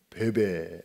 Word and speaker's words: 뵈뵈: 햇던 한 자매를 만나게 됩니다 그 참에 이름은 베베 입니다 한번 따라 쉽다 배배 아 베이비 가 아니고 한번도 패배 아 영어식 발음으로는 peb 프레디 혹시 여러분 어린 자녀나 또